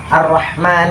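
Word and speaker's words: الرحمن: Awalnya berupa huruf alif, tetapi dalam aksara Utsmani, huruf alif dihilangkan dan diganti dengan fathah panjang, seperti " ar-Rahman," namun tetap dipanjangkan.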